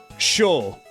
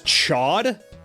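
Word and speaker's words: Chaud: then you have like shul cuz like I know that um a protoman's operator people tend to pronounce his name as Chad but his his name is like the French word for for hot and then this guy's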